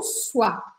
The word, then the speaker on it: soie: Mas se for de seda, a gente vai falar en soie. E presta atenção que esse E no final aqui eu não vou falar, não vou pronunciar.